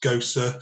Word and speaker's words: Gose: It's pronounced Gose, so there's an at the end to be a craft kind of guy.